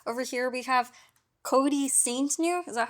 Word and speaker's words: Saintgnue: with cute bot over here we have Cody Saint new is that how you say it yeah s Saint new yeah yeah wow that's a cool last name